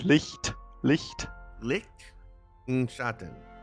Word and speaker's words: Licht: And then the T, you can pronounce the T a bit. Licht.